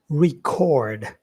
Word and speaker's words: record: Well, another one we can use when speaking about online learning is record as a verb. Record. Yeah. The second syllable is stressed.